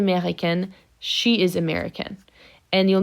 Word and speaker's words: américaine: Elle est américaine, and I'll pronounce that T. Okay, I will pronounce the N here because of my final E.